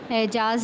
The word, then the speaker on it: اعجاز: زبر آئے گا۔ اعجاز، اعجاز میں الف کے نیچے تلفظ واضح ہو رہا ہے، زیر ہے اور جیم پر زبر ہے۔ صحرا، صحرا میں صاد